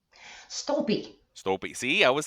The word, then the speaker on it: Stolpe: How do you pronounce your last name, by the way? Stolpe.